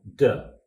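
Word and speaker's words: 德: This principle is called De. In English, that's spelled D-E, De.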